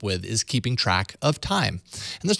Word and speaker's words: Thyme: for good modern kitchen timers in the Play Store sadly but I did find one that does things a bit different from the rest time spelled like the spice kitchen timer recognizes that